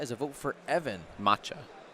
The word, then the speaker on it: Maciej: Maciej. I'm pretty sure it's Maciej. Maciej. It's like there's like a kind of a K at the end. Okay. Yeah. But not really.